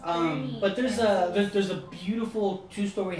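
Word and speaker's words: Boerne: It's pronounced Bernie. But it's pronounced Bernie.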